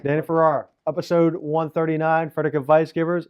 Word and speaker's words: Danny Farrar: Listeners, Danny Farrar. Right? Did I say it right? You said it right. Danny Farrar.